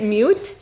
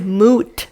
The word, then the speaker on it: moot: mot no they're saying the correct phrase is mot Point not mute like you're saying it wrong no mute and moot